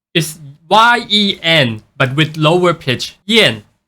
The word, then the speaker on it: Jiyan: one wrong for how it spelled it actually pronounced like yen is ye n but with lower pitch Yen I know English